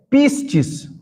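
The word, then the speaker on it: πίστις: Fé, pistis.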